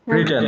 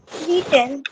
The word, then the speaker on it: written: রিটেন। Anita বলেন তো? Written. হ্যাঁ, রিটেন, রাইটেন না, রিটেন হবে।